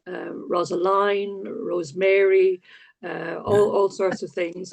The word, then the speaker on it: Rosaleen: No, it's Rosaline, if you give Right. me my full title. Right. But I found when I went to the north of Ireland that I got called Rosaline, Rosemary, all sorts of things.